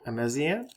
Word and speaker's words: Ameziane: All right, so I read Big Black Stand at Attica by Jared Reinmuth, and how would you pronounce that? Ameziane, maybe? Ameziane.